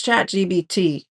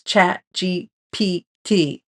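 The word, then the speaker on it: ChatGPT: thought right um so use chat gbt and it's chat GPT boy did I get reprimanded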